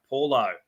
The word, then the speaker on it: Paulo: In the front row, our forward pack, Regan Campbell-Gillard and Junior Paulo, or Paolo, if you want to pronounce it like that.